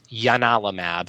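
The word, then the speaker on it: ianalumab: Um, but in I think it's Latin it's pronounced Giannis and so it's Yanalamab and it's spelled with an I instead of a J.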